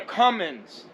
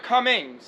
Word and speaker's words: Cummins: because this is a this is a cummins not a cummings a cummins you know what i mean a cummings the cummings is the other truck uh i hear some